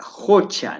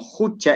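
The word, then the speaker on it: qucha: Entonces, estamos en la palabra Jocha, ¿no? Bueno, la pronunciación del lago de pronto no es tanto como Jucha, es Jocha, ¿no?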